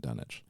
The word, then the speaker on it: Dunwich: just finished out um Dunwich Legacy or dunich Legacy I'm trying to be very good at pronouncing it dunich all right well that's